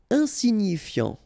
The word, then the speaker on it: insignifiant: Insignifiant, okay, final T not pronounced, so you've got this I-A-N, ian, so F before, fiant, insigni, okay, remember, G-N-I, ni, insignifiant, insignifiant.